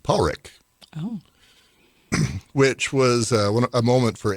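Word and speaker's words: Padraic: the interview that that it's pronounced in Scotland Paul Rick which was a moment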